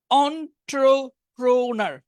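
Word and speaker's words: entrepreneur: হ্যাঁ বিজনেসের আগের শব্দগুলো ছিল স্পোর্টসের আচ্ছা এই উচ্চারণটা একটু কঠিন অন্ট্রোপ্রোনার হইছে আমারটা হইছে অন্ট্রোপ্রোনার একটু একটু কঠিন অন্ট্রোপ্রোনার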